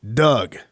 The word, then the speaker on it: Dug: And by the way, his first name is spelled D-U-G, not D-O-U-G. Cut the O, D-U-G. Doug.